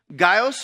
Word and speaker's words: Gaius: Gaius from Derbis. There's not an S there, but there's an S in the pronunciation.